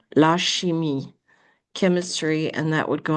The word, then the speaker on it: chimie: La chimie is chemistry. Notice in French the CH is pronounced like an SH and an I is pronounced like a long E. La chimie, chemistry, and that would go under la science.